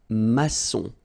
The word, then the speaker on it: maçon: And it just means that you will pronounce this C as S, okay? So that's the reason why. It's un maçon.